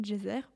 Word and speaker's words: Djoser: La plus ancienne pyramide en pierre a été construite à Saqqara vers 2800 avant Jésus-Christ pour le pharaon Djeser, ou Djoser selon les prononciations, conçue par l'architecte Imhotep, dont on a déjà parlé.